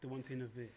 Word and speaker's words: Dwante Navire: Yes, Dwante Navire. Where does that? Okay, so my name. So if you take the word wanted Yeah, and okay. put the D in front, Okay.